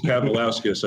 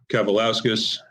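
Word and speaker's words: Kavaliauskas: Now I think I'm finally pronouncing it. I'm in rhythm. Thank you for your assistance earlier. I think Egis Kavalauskas, I think it's pronounced.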